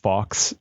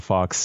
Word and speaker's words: Phawx: But there are YouTubers that cover this thing extensively, and I love their channels like The Fox, which is spelled PHAWX, and then also Retro Game Core, CORPS.